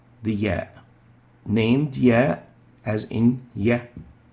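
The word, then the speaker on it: ياء: Now both the y and the ya are called the ya, named ya as in ya, ya, and pronounced as e as in feel, or ye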